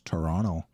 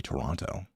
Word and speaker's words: Toronto: us Americans that apparently we aren't supposed to pronounce the second T in Toronto. Yeah, it's Toronto, but it's really genuinely supposed to be Toronto.